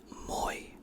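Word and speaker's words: мой: Okay, if this note, if if this was not not there, it would be mo. But no, it's now moy because of the because of this character right here, which creates the pronunciation of an i.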